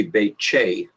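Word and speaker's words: Behçet: accent mark under it's pronounced like CH as in you know chip as a potato chip so it should be baked che or at syndrome that's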